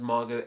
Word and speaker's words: Margot: course we don't say this name isn't Margot it's Margo so why is that silent T even there if we don't use